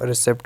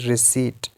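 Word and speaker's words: receipt: इट इ very interesting हम इसको रिसेप्ट बोलते हैं नो इट्स रिट ठीक है और बहुत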